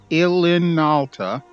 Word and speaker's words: Ilinalta: I always have trouble pronouncing that name. Ilinalta.